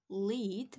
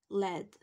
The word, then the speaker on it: lead: of them okay so this is not pronounced as the verb lead but it is led so it's similar to let we imagine that this